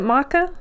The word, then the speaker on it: maca: that's another question I have um is it Maca is that how you pronounce it yeah yeah yes do you do